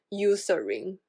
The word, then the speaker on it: Eucerin: 牌子，英文发音是 Eucerin，它有一个红盖的，